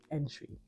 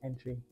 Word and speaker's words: Antwi: right now and it's antwi which sounds like and sweet but it's actually pronounced entry like the entryway into a room so my name is entry foreign so I get